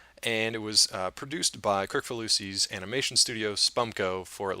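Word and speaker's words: Kricfalusi: Crick Falusi. Crick Falusi. So it's exactly how it's spelled.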